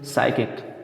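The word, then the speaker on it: psychic: तो इस तरह से पी एल यल 2 साइलेंट है इसमें। उसके बाद देखिए, तो इस तरह से साइकिक, ठीक है, तो इसमें जो है दोस्तों एक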